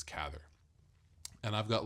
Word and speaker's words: Cather: So even like I read uh like a group of novels by Will Catherther who I keep saying willther and I think I say it wrong. I think it's Cather.